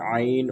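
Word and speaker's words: ع: आईन repeat after me आइन आपने ये ख्याल करना है कि कुरान करीम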